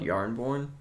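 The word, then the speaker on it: Jarnbjorn: one in the comments called yarn born oh okay yeah I just like spelled with a J yeah and they just decide now let's have one that right here and actually pronounce ya cuz it was beta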